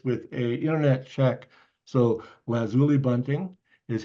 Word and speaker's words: lazuli: so they ask and here's the deal it's lazuli lazuli bunting Lazuli Bunting Lazuli Bunting so it's not lazuli lazuli with the accent on the zoo and it's not lauli